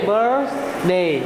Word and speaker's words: birthday: Happy birthday. Good. Jangan salah lagi ya. Ya, jadi jangan bunyi S-nya. Karena dek, perhatikan, biasanya yang TH itu pengucapannya kayak gini.